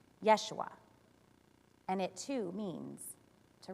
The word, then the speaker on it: Yeshua: The name Jesus in Hebrew is almost the exact same pronunciation, Yeshua, and it too means to rescue or deliver.